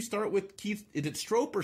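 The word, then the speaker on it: Stroup: with keith is it stroper stroop the strong it rhymes with drop that's how he there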